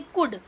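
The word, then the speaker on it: could: बच्चों मैं आपको यहां बता दूं गुड cooldude1986 साइलेंट एंड हमें नहीं रीड करना है कोल्ड नहीं रीड करना है क्या रेट करेंगे कुड हां तो यह आपको माइंड में रखना है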